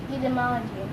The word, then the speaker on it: etymology: Etymology. Okay. Potato, potato, tomato, tomato. Etymology, but you never said etymology. You normally say etymology. Etymology. Okay. And the T is pronounced as a D.